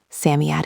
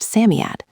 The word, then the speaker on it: Psammead: Samiad is pronounced Samiad.